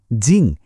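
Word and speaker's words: 静: কিন্তু দ্বিতীয়টা জিং, এটা হলো ফোর্থ টোন, মানে আওয়াজটা হঠাৎ করে ওপর থেকে নিচে নামবে, একটা ঝটকার মতো, জিং।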